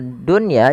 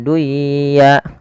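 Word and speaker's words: الدنيا: Kemudian pada lafal dunya jangan dibaca dengan duya.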